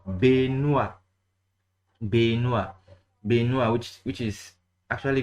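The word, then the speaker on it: Benoît: I see a lot of people who say rubbish here, but the easy way to pronounce this is following. Okay, let me just put the following this thing, you see it is pronounced Benoit.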